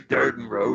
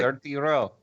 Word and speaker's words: Durden Row: It's Durden Row, yeah. That's what Oh, I said. it's like- Dirty Row. No, it's not how it's pronounced. Durden, not dirty.